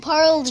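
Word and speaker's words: Parle-G: it I always said par g g no we we usually say par G par G yeah actually you can say it Pearl G par leg actually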